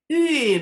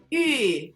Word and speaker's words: 玉: On the inside, your tongue is like you're saying E, and then slowly round your lips up like you're pursing it up. 玉米 Fourth tone, third tone. 玉米 And you cannot have Thanksgiving without cornbread.